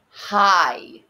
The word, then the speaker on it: high: be careful with those high so in high much like neighbor that gh can't hear it all right these are